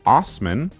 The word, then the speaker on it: Assman: Well, this jolly good Dick's surname is of German origin and is pronounced Assman.